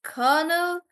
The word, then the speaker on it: colonel: the chat so it's it's spelled like colon nail but pronounced as colonel again I don't know